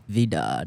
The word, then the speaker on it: Vidad: Vidad. Vidad.